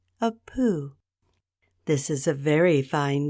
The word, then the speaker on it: Pooh: my friend Christopher Robin Moo rhymes with Pooh surely there is a